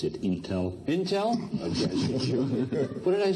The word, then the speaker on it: Intel: Can I but in and ask you to pronounce it Intel? Intel. What did I say? Intel.